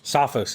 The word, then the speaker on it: Sophos: people caught this but sofos recently Sophos Sophos is how you say it SOS uh recently released